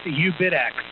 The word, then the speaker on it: uBITX: course you John um John it's ubitx that's how you pronounce it ubitx um and